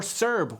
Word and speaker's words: CERB: Should it be pronounced CERB or CERB or just CERB? I pronounce it CERB because that's the correct way to pronounce it.